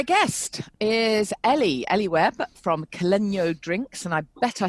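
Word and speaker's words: Caleño: It's the tilde on the end, which is South American, which gives it a different pronunciation.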